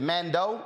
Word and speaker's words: Mandeaux: to man man uh is it is it Mando is that how it's pronounced correct Commando shoes n-a-n-d-e-a-u-x s-h-o-e-s Facebook Amanda